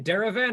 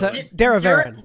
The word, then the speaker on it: Daravaran: Is his name Daravan or Daravaran? Because that's how it's spelled. It's Daravaran.